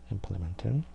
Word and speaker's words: implement: implement 강세는 이제 앞에 강세가 있어요. 얘네들은 implement. 그리고 명사면은 그냥 앞에만 강하게 발음하고 동사인 경우에는 뒤쪽에도 중강이 있죠. 앞에가 강이고 중강 이거는 동사. 동사는 이제 뒤쪽에 이렇게 좀 강해진다고 그랬죠.